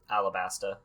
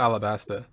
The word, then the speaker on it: Alabasta: One Piece continuing The arabaster Saga so they pronounce it Aura Basta arobasa or Arab Arabesque yeah alabasta it's not Alabaster I don't know how how do we American